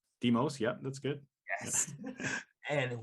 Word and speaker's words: Lambros Demos: We have Lambros Demos. Say it right? Demos, yeah, that's good.